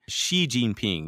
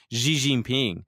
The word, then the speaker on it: Xi Jinping: pronounce it but and the X ound is not an SH sound but you could just say she like he she Xi Jinping you know that would sound a lot better than an GGP come on he's on